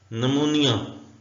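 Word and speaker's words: pneumonia: board नहीं पढ़ेंगे अलमारी नोनिया उर्दू में नूनिया ऐसे लिखेंगे और इसका मीनिंग भी नोनिया उर्दू में लिखा जाता है नोनिया होता है फे की बीमारी का नाम है इसमें पी साइलेंट है सूडो पी साइलेंट है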